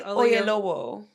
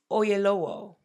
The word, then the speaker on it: Oyelowo: David Oyelowo, I I watched several videos so I could get that pronunciation right. Is that right? David Oyelowo, yes. Oyelowo.